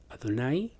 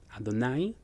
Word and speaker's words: Adonai: La palabra es Adonai, como aparece en la lectura, se pronuncia en la fonética es Adonai. Adonai.